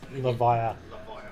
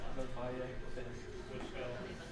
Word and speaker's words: Levia: Hey, say it right. Levia. It's Levia. 2 cards in hand, 1 last one. Yep. Levia.